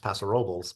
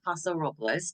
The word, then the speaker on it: Paso Robles: Los Angeles it's pronounced Los Angeles uh it's pronounced pasor robels because that's how we do it or just